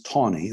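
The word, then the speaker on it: Taney: law when justice tawny chief justice tawny that's how you pronounce his name said that africans had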